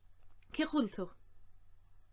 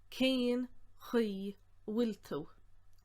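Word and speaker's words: Cén chaoi a bhfuil tú: Then I go on to ask, cechulta. Now slowly that would be cén chi wiltu. But it's hardly ever said that slowly, so it's usually said as cechulta, or even just cechwil.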